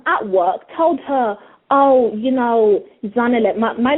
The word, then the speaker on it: Zanele: My name is actually Zanele, okay? That's how you say my name, Zanele, but people here struggled too much, and so it just became Zanele.